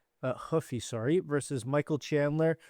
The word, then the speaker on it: Rua: Anyways, next up, we have Mauricio Rua uh Rua, sorry, versus Michael Chandler. Maybe it's Mauricio Rua now that he's training up in Australia. Maybe he's going to start pronouncing the R's instead of as H's now that it's Australian Mauricio.